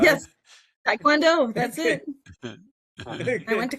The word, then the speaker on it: Taekwondo: Did I pronounce Taekwondo right? Yes, Taekwondo, that's it.